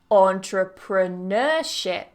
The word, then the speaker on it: entrepreneurship: next one entrepreneurial entrepreneurial so notice how that primary stress the main stress always falls on that n entrepreneur entrepreneurial entrepreneurship it always goes on that Nur syllable do you want to